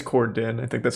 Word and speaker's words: Corden: Is it actually James Corden or is it James Cordon? I think it's Corden.